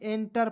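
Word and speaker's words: enter: एनर्जी रेफ लगाएंगे ना जी अंतिम में ऊर्जा इंटर अब कहिएगा सर इंटर नहीं एंटर पढ़ते हैं प्रवेश अब कहिएगा सर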